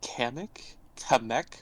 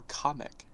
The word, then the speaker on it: Kamek: Is it Kamek, or Kamek? Kamek, I think, is how it's supposed to be pronounced. Because in Japanese, a K-A would be Ka.